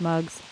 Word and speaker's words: Mugs: wondering what that means her middle name is mugs and it rhymes with smugs so it's too good